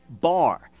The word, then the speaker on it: bar: in next bar son it's a little Hebrew word it's just one syllable bar and it is actually